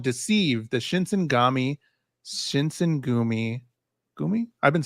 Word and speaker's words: Shinsengumi: Gumi? I've been saying Gami.